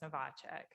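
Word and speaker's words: Novak: what john says that my last name sounds just like it's spelled it's not a big deal it's just novac um well i'm thankful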